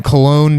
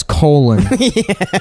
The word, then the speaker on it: Cologne: Anyhow, so we're watching the one where I guess they were in Cologne, Germany. Yeah. Yeah. Yeah. And which one of them pronounces as Colon.